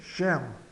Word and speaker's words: j'aime: J'aime, fica j'aime, o E final é mudo. Esse E aqui é mudo. Então, simplesmente j'aime.